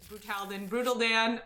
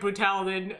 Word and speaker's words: Brutal Dan: We found out that this is Brutal Dan. I just like Brutalden. The way saying Brutalden just sounds. Where does it come from? Brutal Dan? No. Where does our pronunciation Brutalden? It sounds like. I think it's just how we read it at first, but It kind of sounds like a transformer.